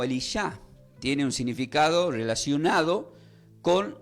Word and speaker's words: Elisha: El nombre de Eliseo en hebreo se puede pronunciar como Elisha.